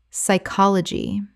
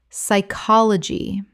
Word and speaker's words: psychology: pneumonia pneumonia Word 180 psychology Common mispronunciation p-sychology Correct pronunciation psychology The p is completely silent and the Y makes a short I sound.